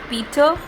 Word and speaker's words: Peter: underneath peter peter children note that the er at the end of peter is silent we need only say peter and omit the raw sound at the end so